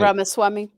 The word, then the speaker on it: Ramaswamy: Vivek Ramaswamy.